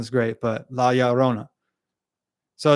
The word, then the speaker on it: La Llorona: Not that my pronunciation is great, but La Llorona.